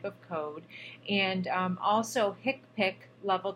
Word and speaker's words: HCPCS: a different type of code and also picks picks level 2 HCPCS which we pronounce the tiktok level 2 coats now hospital